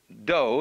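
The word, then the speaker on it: 道: the science of Judo do is the way the Japanese pronounce Dao ju means gentle Judo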